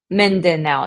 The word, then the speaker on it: Mindanao: So like where you're at right now, you pronounce it Mindanao? Mindanao? Mindanao, it's a hard D.